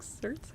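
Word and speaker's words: certes: slay the Then oh it's Latin and pronounced certis. Well that's no no wrong. Definitely just cert.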